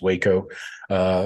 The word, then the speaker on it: Waco: I believe it's pronounced Waco.